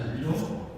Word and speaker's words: Riedel: We have a gentleman here from Riedel. He's going to actually correct me on that. It's Riedel. It's the pronunciation.